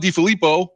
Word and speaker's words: DeFilippo: I mean, you've got, like you said, you got Lazor, you've got John DeFilippo, or am I saying it wrong? Whatever. No, you got it.